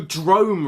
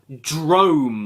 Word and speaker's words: Drome: Drome rhymes with gnome, man.